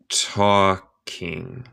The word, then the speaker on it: talking: So Alice soon began talking again. Hola Mariposa, good to see you. So Alice soon began talking again. Nota mi pronunciación. El L es muda en esta palabra. Hablando. Talking.